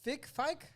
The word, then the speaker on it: Fike: with Dominic Fike.